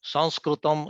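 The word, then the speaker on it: संस्कृतम्: it is actually not sanskrit it is sanskrit sanskritim is the correct way of pronouncing it and it actually stands for two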